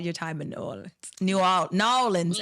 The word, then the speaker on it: New Orleans: New Orleans, actually. New Orleans. That's how they say it. New Orleans. It's not two words, it's one.